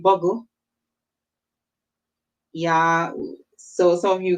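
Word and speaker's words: Boggle: Some of you guys are really good at those games, Scrabble and what we call Boogle, but it's really Buggle.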